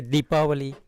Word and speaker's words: Deepavali: In a southern side, south side, they'll say Deepavali. Okay. So it's kind of different pronunciation.